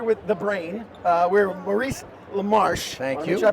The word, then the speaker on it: Maurice LaMarche: uh we're here with the brain uh we're Maurice lamarche thank you did I pronounce it correctly thank you for getting it